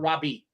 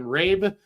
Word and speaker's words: Raabe: a long time, but I guarantee I've called him Raabe. Robbie, I guarantee I butchered that name before.